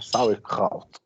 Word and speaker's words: Sauerkraut: O outro é muito fácil de pronunciar, a única coisa é que o R é pigarreado, então é Sauerkraut.